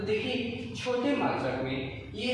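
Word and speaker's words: μ: 1 micron बराबर, ये symbol जो है इसको बोला जाता है म्यू। क्या बोला जाता है, इस सिंबल का जो उच्चारण और प्रोनाउंसिएशन होगा उसको बोलते हैं म्यू।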